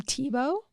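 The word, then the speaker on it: Thibaut: This Grass cloth from TBO yeah TBO is spelled t h i b Au u t and tbo's a a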